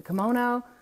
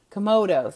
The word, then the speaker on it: Komodo: got the come out is it the kimono come I'm saying it wrong the Komodo dragon and it's like bigger